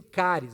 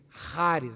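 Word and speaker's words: χάρις: Algumas pessoas dizem caris, mas cari parece cárie dentária, né? Então faz a pronúncia certa aí comigo. Charis, vai lá.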